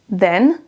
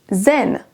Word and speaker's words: then: Regardez la différence quand je prononce then et zen. Zen. Là ici, pour le deuxième son, on va avoir la langue qui reste dans ma bouche, alors que dans le premier, il faut que la langue sorte légèrement et qu'elle soit un petit peu visible. Donc il faut vraiment oser ouvrir la bouche et sortir légèrement votre langue.